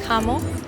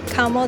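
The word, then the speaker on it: Chamo: you into the fragrance Camo. The main fragrance, Shamo, Camo. They kept calling it Camo, but it's spelled with a CH.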